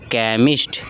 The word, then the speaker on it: केमिस्ट: लेकिन कभी-कभी क्या होता है कि सीएच रहता है उसको हम लोग क भी पढ़ते हैं। क्या पढ़ते हैं? क। जैसे आपका रहेगा केमिस्ट। क्या रहेगा? केमिस्ट। Christ, Christmas, chemistry. क्या? केमिस्ट्री। यहां पे जो सीएच दिया